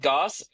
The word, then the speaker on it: Goss: joined by comedian Brad Goss. Is that how you pronounce your last name? Okay. Brad Goss along with rhymes with sauce along with fellow co-host uh Colton and Jordan from Anime Talks.